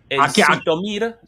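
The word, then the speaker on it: Zhytomyr: La KH para mí, e la el la pronunciación de la transliteración de KH, ellos lo llaman como sh. Eh, seguramente. A ver, Shitomir, ZHomir en en ruso, escuchándolo en ruso, lo llaman Shitomir.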